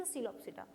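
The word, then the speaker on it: Psilopsida: तो यहाँ हो जाएगा आपका सीलोप्सिडा, पी से स्टार्ट है लेकिन आपका pronunciation is सीलोप्सिडा, सीलोप्सिडा, लाइकोप्सिडा एंड स्फेनोप्सिडा एंड टेरिडोप्सिडा, ठीक है।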